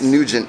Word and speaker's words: Nugent: and you g-e n-t not to be mispronounced as new when it's nugent people and just like